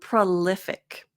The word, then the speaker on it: prolific: prolific. Now this one, and even me looking it up for the IPA, some websites said the schwa, some websites said pro, the OU IPA.